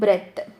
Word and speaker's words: breath: I will take a deep பிரெத். பிரெத் noun. பிரெத் வந்து பிரெத் BREATH noun. பிரெத்துன்னு pronounce பண்ணுங்கள். ப்ரீத்துன்னு நம்ம சொல்லுவோம், அது வந்து வேர்பு. ஐல் டேக்.